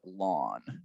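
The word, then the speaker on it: ln: it um so this is the derivative of lawn so lawn is spelt like this so it's a function uh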